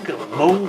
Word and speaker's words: Meng: is actually 2018 vintage from uh from mang Mong as I tell they supposed to be pronounced let's have a look